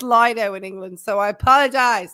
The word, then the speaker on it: Lido: Ian Leo, it's pronounced Lido in England.